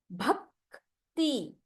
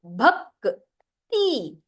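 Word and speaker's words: ಭಕ್ತಿ: So sthala, rakta, rakta, bhakti. So if you see my pronunciation, the k is read half. It is not read as ka. It is read as k. Bhakti.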